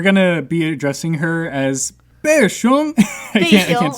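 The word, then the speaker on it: 贝熊: nickname in Chinese is called 贝熊, which literally doesn't sound like anything what it's supposed to be, but it's like Bay Bear. Like it's her. So that's her nickname. Her nickname is Bay Bear.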